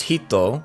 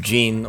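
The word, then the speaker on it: 人: This kanji is, by itself, pronounced hito, which means person, but in kanji clusters it's pronounced jin or nin because that's how all the Chinese loanwords containing that character pronounce it.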